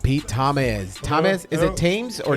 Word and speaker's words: Tamez: Tamez. Accent on the It's actually second syllable.